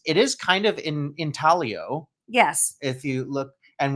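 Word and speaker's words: intaglio: It is It is kind of in in Talio. Yes. If you look and we we've learned the G is silent like lasagna.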